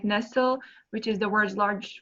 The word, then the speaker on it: Nestlé: We actually pronounce it Nestle. Nestle. If we were in Switzerland, where Nestle is headquartered, it would be Nestlé, because it's a French word. But in America, we say Nestle, and I think in